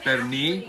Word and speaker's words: Pernil: Pernil.